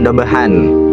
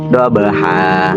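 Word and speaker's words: ضبحا: Kalau misalkan diwakafkan itu bacanya jangan dabahan tapi daabaha doaha bukan dabahan ya.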